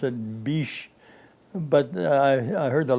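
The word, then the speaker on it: Bitche: e and the the French probably pronounced it Bish but I I heard the locals pronouncing it they called it bit you know the area was occupied by Germans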